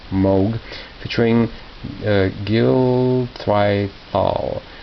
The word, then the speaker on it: Moog: this is nashville gold the switch on moon sorry it's pronounced moog featuring uh gill thright